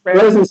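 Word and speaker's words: Rozenstruik: Minty's going to get knocked out in the first round, and sure enough, is it Rosenstruck? Is that how you say it, Johnny? Yep. Yes. Rosenstruck.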